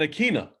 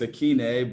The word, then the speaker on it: Ikhine: See, it's Ikhine, but I always used to think it was Ikhine, so like that's on me. I think I told the media when they asked me to phonetically spell it, Ikhine, and then it was like that's not. I found out that wasn't the right way, so that's on me.